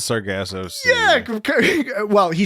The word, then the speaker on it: Sargasso: and then he says sargassos yeah well he says yeah and he says it wrong uh shatner uh uh kirk says uh instead of sargasso he says sarah gassa like sarah gossip yeah right he does